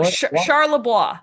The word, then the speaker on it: Charlebois: Charlebois? Charlebois? Oh, Charlebois.